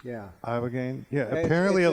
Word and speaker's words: ibogaine: And I think the name of the drug is Ibogaine, and it's illegal here, but it's legal in Mexico and Canada.